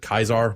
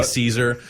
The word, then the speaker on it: Caesar: or Caesar's Legion but his own people pronounce it kaisar most of the time but there are some spots where they clearly just up recording dialogue and they say Caesar like I think the